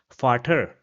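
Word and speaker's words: Vater: So it will be pronounced as farter which means father.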